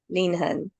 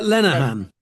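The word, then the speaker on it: Lenehan: Expert Advisory Group for inclusion and Dane Christine Linhan. I probably pronounced that wrong. How would you pronounce that? Uh, Lenan.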